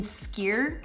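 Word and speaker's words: skyr: its closely related cousin skier which I think is how it's pronounced is even more impressive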